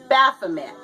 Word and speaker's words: Baphomet: don't know what this is it is a Baphomet that's how you pronounce it it is a Baphomet statue and